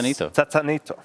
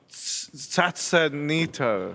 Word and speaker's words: Satsanito: It's not Sasa. It's not Tata. Somewhere in the middle. Satsanito.